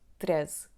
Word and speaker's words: treze: The word is stressed on the second syllable to the end so: /TREz', /TREz'/, /TREz'/, /TREz'/, /TREz'/.